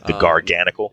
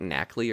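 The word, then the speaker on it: Garganacl: Yeah, is that supposed to be pronounced like Knackley or something? Like I know that it's like NaCl. It's a pun on sodium chloride, but yeah, that's what I've been saying, Knackley.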